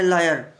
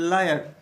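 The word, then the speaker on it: lawyer: यू कैन नॉट से your self that I एम ए लायर। यू आर नॉट लायर, यू आर लॉयर। लॉयर, ध्यान दीजिए, बड़े बड़े वकील साहिबान भी गलती कर देते हैं।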